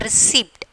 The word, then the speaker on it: receipt: Receipt. Receipt. Okay, not receipt. Receipt. So P is the silent letters.